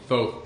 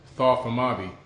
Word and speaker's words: Thoth: Today I'm going to talk a little bit about some wise words from Thoth, the Atlantean.